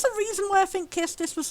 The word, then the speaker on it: Quistis: Hello, Kistis, who I now know is pronounced Kistis when I thought it was pronounced Quistis.